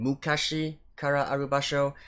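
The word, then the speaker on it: 昔からある場所: I actually pronounced the name of the ending song wrong. It's Hello Again, Mukashi Kara Arubasho.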